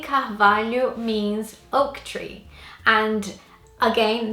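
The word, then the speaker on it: Carvalho: me that name number seven is the name calf value and this is a really difficult name for English speakers to pronounce I tried to get my husband to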